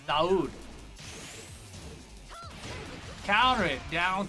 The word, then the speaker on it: Dawood: When I was restreaming the Takra Cup tournament, people were like, yo, you don't say Dawood. W is silent. It's Dawood.